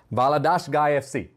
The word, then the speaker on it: Valadares Gaia FC: Valadares Gaia FC. Did I do that correctly? Not bad? Yeah, correct pronunciation.